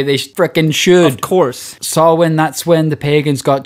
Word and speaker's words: Samhain: I don't know how to pronounce this, Rory. I'm going to be real with you. Samhain.